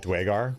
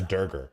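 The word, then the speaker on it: Duergar: Someone got mad at me for pronouncing it Dwegar, the way they do in this. And he's like, it's a Durger.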